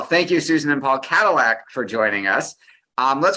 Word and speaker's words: Kadilak: pronounce my name but it is pronounced Cadillac like the car ah I apologize no